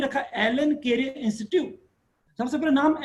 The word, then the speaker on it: ALLEN: लक्ष्मी नारायण को बोले तो L.N. माहेश्वरी, L.N. को एक साथ मिला के बोले तो प्रोनाउंस करके वर्ड बना एलन, और इसकी स्पेलिंग लिखें तो ALLEN एलन, ऐसा नोमेनक्लेचर हुआ।